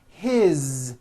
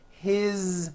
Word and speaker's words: his: you hear that is his same thing it also has a voiced z ending his mom is mary as